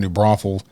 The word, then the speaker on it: New Braunfels: Well, speaking of networking and speaking of learning of other situations, there was a situation down in New Braunfels.